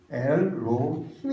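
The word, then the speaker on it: אלוהים: 어때요 그 이후 리어에 이 하나님이라고 하는 단어를 뭐라고 말하고 하냐면 엘머 힘 엘로 힘 이라고 발음합니다 그리고 외로움이라는 2 3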